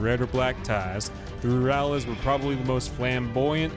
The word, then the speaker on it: Rurales: LaGuardia Rurales, I'm afraid of reading if I'm gonna say words wrong.